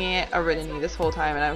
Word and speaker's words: Ariadne: spell that name and I had been misreading it this whole time. It's actually spelt like Ariadne. Ariadne? Yeah. But I've been pronouncing it Ariadne this whole time and